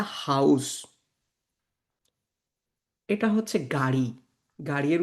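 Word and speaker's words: Haus: সো দেখেন এখানে একটা ওয়ার্ড লেখা আছে হা আ উ এস। এটার উচ্চারণ হচ্ছে হাউস।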